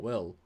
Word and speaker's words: Will: I thought she just learned the line as Bill, not Will.